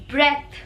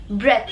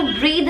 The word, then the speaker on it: breath: You will pronounce this as breath, breath, ब्रेथ। इसको ब्रीद नहीं बोलेंगे, ब्रीद कब बोलेंगे? जब इसके आगे ई लग जाता है तो, ठीक है। अगर स्पेलिंग है BREATH तो उसको आप बोलेंगे ब्रेथ, और अगर स्पेलिंग है